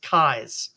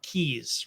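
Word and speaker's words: Kyes: the family name right my family name is kais or keys right k y es kais or keys I answer to both because both pronunciations are correct in their appropriate context okay but you would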